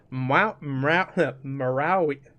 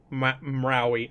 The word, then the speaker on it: Maori: He has actually picked up the lead with the Marawi. How do you say that, Ben? Marawi? The Bloody Which Tongue one are we people. on? The Bloody Tongue people. Maori.